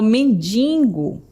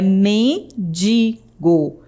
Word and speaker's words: mendigo: Muitas pessoas falam mendingo, como se tivesse um ní depois do do i, né? Mas não tem esse N, é mendigo.